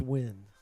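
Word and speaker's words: Nguyen: Pronounced win.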